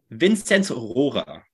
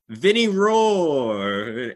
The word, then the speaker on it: Vinzenz Rohrer: Vinzenz Rohrer is the pronunciation in German, but honestly, Vinzenz is easy for me. Rohrer is really tough to pronounce, especially in English. It's like Rohrer. So at Ottawa 67's games, the pronunciation of his name is always so funny because everyone's just like Vinny Roar. It's like his name is basically just like Vinny Roar now.